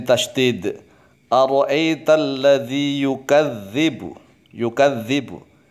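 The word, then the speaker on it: يُكَذِّبُ: lazy you Gazebo yukadzdzibu ini anak-anak modern biasanya yang ini yang salah yukadzibu Mengapa anak modern salah karena membacanya menggunakan tulisan latin kemudian akan terbaca yukadzibu pakai Zain salah yukadzibu salah yukadzibu juga salah pakai gym atau pakai salah harus pakai dengan lele terlalu terlalu dilatih dan Zal yukadzibu kau writer Nazi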